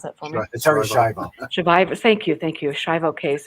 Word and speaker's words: Schiavo: That must have been fascinating, where you served as a forensics consultant on the Terry Schiavo, oh my gosh, pronounce that for me. Terry Schiavo.